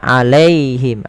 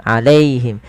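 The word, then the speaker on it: عليهم: dalamnya kemudian alaihim alaihim Jangan dibaca alaiim alaihim dengan E tapi alai alaihim sempurnakan dalam mamul harakatnya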